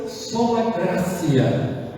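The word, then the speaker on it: sola gratia: Todo mundo falava t entre duas vogais tem som de cidilha, só na gracia.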